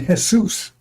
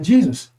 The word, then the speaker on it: Jesus: He says my name is Jesus. You don't say Jesus to Jesus because he can't pronounce the J E. But there's a G sound in which like geoysics, geometry, uh geopolitics. Those are Greek words. And the G in front is a is is a